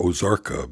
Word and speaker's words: Ozarka: Ross put in a bid for Ozarka because the O is a long O up front.